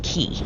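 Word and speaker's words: Cay: That's cuz it is spelled C A Y, but it's actually pronounced key.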